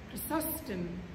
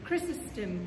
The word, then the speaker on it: Chrysostom: the greek church and arson athanasius and john chrysostom or chrysostom whichever pronunciation you prefer if you need to go